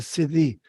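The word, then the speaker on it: siddhi: word that goes with it which is the city it's spelled s-i-d-d-h-i so sadhu is s-a-d-h-u and that's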